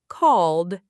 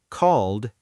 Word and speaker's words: called: I called a taxi. Normal speed. I called a taxi. Great. Notice that called ends with a soft D sound, not ed like a separate syllable.